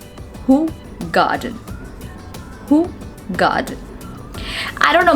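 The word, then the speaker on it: Hoegaarden: beer and the but the correct pronunciation of this word is not whole garden the pronunciation of this word is who garden who god i don't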